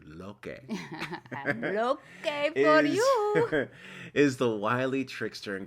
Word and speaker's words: Loki: story is of course loki pronounced loke aren't you lokey is the wily trickster